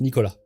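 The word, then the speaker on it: Nicolas: But as most thing in France, you don't pronounce the S at the end. So it's Nicola.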